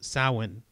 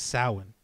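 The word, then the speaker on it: Samhain: this new year period which is spelled s-a-m-h-a-i-n but it's pronounced sowin right it's pronounced salmon even though it's not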